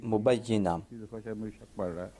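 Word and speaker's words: مُبَيِّنَة: La prononciation est Mubayyina.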